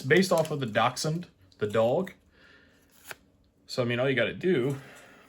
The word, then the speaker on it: Dachshund: based off of the Dachshund, the dog. So I mean, all you got to do is just call it Dachshund. You know? When have you ever seen Dash spelled like that?